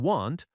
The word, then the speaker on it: want: For example, won't and want are often confused in pronunciation. Won't has a long o sound. Want has a short a sound.